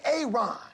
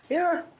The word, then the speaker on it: Aaron: A Aon. Aaron. Why didn't you say it the first time I said Aon? Because it's pronounced Aaron.